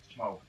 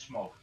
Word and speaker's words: Smaug: Third gripe on the Hobbit, Smaug. Sorry, this is kind of a two-part gripe. The pronunciation of smog, it's smog, not smaug.